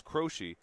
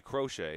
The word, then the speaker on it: Crochet: That's rope to the third baseman and uh go staying over at second is Crochi. Excuse me, Crochet. I keep mispronouncing that name.